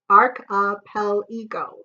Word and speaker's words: archipelago: it a thousand times here is the spelling a are CH IP ela Geo arc Appel ego there all right the